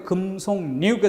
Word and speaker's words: 금속류: 리을일까가 남고 3번에 금속류. 이거는 금솔류라고는 절대 발음될 리 없죠. 그러니까 명백하게 금속류가 됩니다. 3번은 명백한 비음화예요.